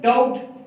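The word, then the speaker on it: doubt: इसी तरह thumb, thumb में बी साइलेंट, कॉम, फिर है डाउट, डाउट के अंदर बी साइलेंट है, डाउट के अंदर बी साइलेंट है।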